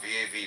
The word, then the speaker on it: Vav: Comment on Vav, V-A-V, pronounced Vav, Vav.